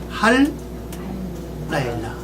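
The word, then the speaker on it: הַלַּיְלָה: 그래서 할 라일라 그렇게 발음합니다.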